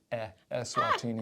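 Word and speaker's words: Eswatini: tiny country at the time called swasiland now eatini and um there was it had the highest it's actually pronounced etini I said it wrong see it was swasan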